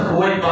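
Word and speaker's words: ثویبہ: تو اس نے اپنی لوڈی جس کا نام تھا سویبہ، لوگ سوبیا بھی کہتے ہیں تو تلفظ اس کا سویبہ ہے.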